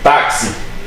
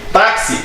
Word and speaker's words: táxi: Se você, eu acho que não precisa de muito conhecimento para entender, por exemplo, quando a gente pronuncia táxi, a gente está pronunciando aí uma letrinha que não existe aqui.